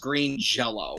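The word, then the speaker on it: Green Jellÿ: The band's called it's spelled Green Jelly, but it's pronounced Green Jello.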